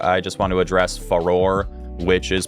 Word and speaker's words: Farore: Ferrari or Fey Roar I'm going to pronounce it farore and hylia as well I say